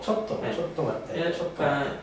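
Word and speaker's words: ちょっと待って: 있는 분들 계실 거요 조도 발음을 잘해야 됩니다 조도는 한국 말이고요 도입니다 초도도도 초도 맞대 초도 맞대 이이랑 토라는 말을 갖다가 약간 띄어쓰는 그런 느낌을 해주시면 좋 좋고요 초 우리 한번 보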